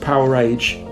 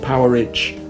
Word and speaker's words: Powerage: on on compilation and the title is pronounced powerage not power rich as i thought for about 30 years i've checked with angus